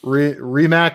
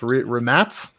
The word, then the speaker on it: Rimac: Rimac, or I think it's pronounced Rimac, is correct.